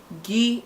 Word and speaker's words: gh: Gi is the 9th letter nke itoolu na asụsụ ndị Igbo, pronounced as gi, G-H-E-E, spelled as G-H, pronounced as GHEE.